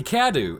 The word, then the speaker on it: Cadou: underneath the town and creating the kadu and believe it or not that's the actual french pronunciation i looked up now